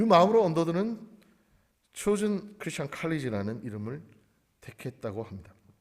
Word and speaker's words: Chosen: 하지만 이거는 미국 사람 입장에서, 영국 사람 입장에서는 chosen입니다. 오늘 설교의 제목, 택하신, 택함 받은, 하나님으로부터 선택된이라는 뜻, chosen Christian College.